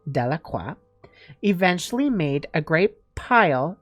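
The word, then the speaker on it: Delacroix: jones and dickie delaqua the villagers pronounced this name de la cua eventually made a great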